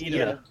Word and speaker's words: Iida: I can never pronounce his name. It's Ida.